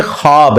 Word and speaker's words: ख्वाब: नहीं आ सकता अच्छा यह लफ्ज लिखने में है ख्वाब ख व अलिफ बा लेकिन पढ़ने में यह खवाब है व साइलेंट हो जाता है ख्वाब पढ़ा जाता है ये लफ उर्दू